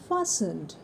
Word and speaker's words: fastened: My feet are फासन्ड, यहाँ पर भी टी साइलेंट है, दिस वर्ड इज़ fastened।